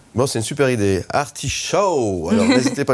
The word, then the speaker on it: Artishow: Artishow, ça s'écrit A-R-T-I-S-H-O-W, comme le show.